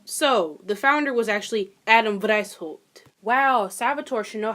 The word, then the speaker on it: Weishaupt: So, the founder was actually Adam Weishaupt. Wow, Salvatore should know how to pronounce a German last name considering she's been speaking German for almost a year.